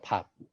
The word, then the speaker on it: 밥: 일단 영어권에서는 받침 발음을 이렇게 터트려서 발음합니다. 한국어는 밥 하고 입을 닫아야 되는데 영어 거는 대부분 밥 하고 입을 터뜨리죠. 그리고 일본어나 이탈리아어나 이렇게 받침이